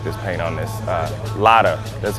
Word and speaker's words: Lada: cars I really like this paint on this Lada that's how you pronounce it right lotta there you go man they drive small cars